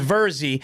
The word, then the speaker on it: Virzi: it right now my my last name is five letters it's v-i-r-z-i and people it's verzy but because there's not